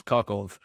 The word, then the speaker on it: Kharkiv: Well, Kharkiv, which is Kharkov. I'll be calling it Kharkov today. Right. But it's Kharkiv or whatever. I think the actual pronunciation is.